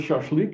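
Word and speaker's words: шашлык: of learned so sure remember i said a is just a latin sh again l lambda this thing is really silent it's just there but it's silent and then k is k like rk anybody want to pronounce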